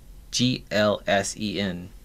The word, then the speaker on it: GLSEN: of a Mothership called g-l-s-e-n pronounced glsen formerly the gay lesbian and straight education Network they've been laying Siege to our educational system since 1990.